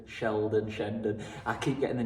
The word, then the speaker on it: Shandon: right so here are the bells of shend Sheldon Sheldon Shandon I keep getting the name wrong so on every clip I'm calling it